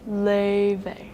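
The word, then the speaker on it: Laufey: In the God of War games, it's pronounced like this. La. But for the Grammy award-winning musical artist who's also in Fortnite, she accepts two pronunciations. Le, that's the more English one. And then in true Icelandic form, Le Luffy is a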